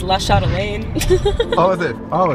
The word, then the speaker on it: La Chatelaine: the name, it's like Everyone in Ohio says La Chatelaine. Oh, is it? Oh, it's French. Oh, I gotta look up how it's spelled.